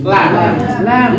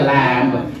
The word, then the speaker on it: lamb: Lamb. Not lamb. Now onwards you will not pronounce this word as lamb. This is a lamb. No, this is not a lamb. It is lamb.